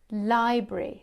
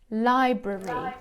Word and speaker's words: library: listen to Lucy and there are two possible pronunciations for this the one I use is library library so it has two syllables or you can say library library I'm jazz you pronounces